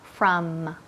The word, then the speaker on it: from: Far from. It's far from Los Angeles. Muy bien. From. Recuerda la manía que tenemos con las terminaciones. Y aquí tenemos la M. From. Cierra los labios. Que toquen. From.